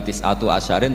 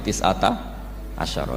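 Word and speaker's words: تسعة عشر: Tetap bacanya bukan tis'atu asyarin tapi tis'ata asyara. Jadi kita tahu secara hukum nahwu adat mulai ahada asyara sampai tis'ata asyara itu mabni apa?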